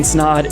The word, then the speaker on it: Snaadt: My name's Snaadt. It rhymes with odd, and we'll see you in the next video.